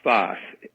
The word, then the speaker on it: Sfath: Whose name was Sfath. That may not help matters, but he was called Sfath.